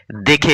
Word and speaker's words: দে: সেখানে কিন্তু আঁকড়ি নেই প্রথম শব্দটির উচ্চারণ বলতে হবে দয় জ ফলা আকার এবং পরের শব্দটির উচ্চারণ করতে হবে দয় এ সেইজন্য আমরা প্রথম শব্দটিকে বলি দেয় এবং পরের শব্দটিকে বলি